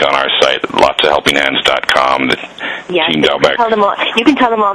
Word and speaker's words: Doubek: And Team Doubek and I keep mispronouncing your name, forgive me. It is Doubek. Team Doubek.